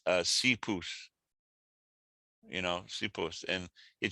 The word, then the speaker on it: Esopus: terms of yeah i'm sure there's lots of mispronunciations um but uh no esopus isn't exactly correct but it's uh sea pus you know suppose and it just became standard